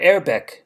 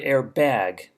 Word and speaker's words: Airbag: repeat after me they're airbag they're airbag notice it's not quite the english word air bag as far as pronunciation is concerned airbag let's continue the